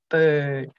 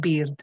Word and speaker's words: bird: They should be able to see you going, bird, bird, not beard, beard, it's bird, bird, you know.